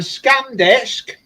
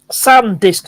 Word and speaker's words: SanDisk: it's a scam disk SanDisk not scam it's something it really